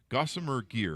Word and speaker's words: Gossamer Gear: start your company you've got a company gossa gossamer gear am I pronouncing that right yep gosar Gear Well my